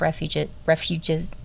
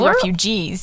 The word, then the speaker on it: refuges: He set aside 230 million acres of land, including 16 national monuments, 55 wildlife refuges. Well, how do you say that? Refuges? Oh, it sounds like you're supposed to say refugees, but...